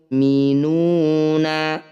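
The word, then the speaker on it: الْمُؤْمِنُونَ: Ah, cara membacanya, "nu" ini harus dipanjangkan sebanyak enam harakat. Kemudian huruf terakhir, kita sukun/diamkan. Falyatawakkalil mukminuna.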